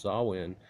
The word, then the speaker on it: Samhain: Samhain, pronounced Samhain, was based on the cycle of the pagan Wheel of the Year.